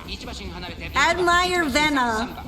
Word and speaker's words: Admire Vega: The way they say Myer Vega is so weird. They don't even pronounce the G. They like skip it and then just use an N instead. I like barely recognized when